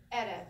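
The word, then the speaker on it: ערב: Ayin is silent, makes no sound. The reish, and the vet. So, ere.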